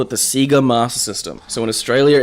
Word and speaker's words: Sega: It's pronounced Sega in Australia, as it was pronounced with all of their promotional merchandise.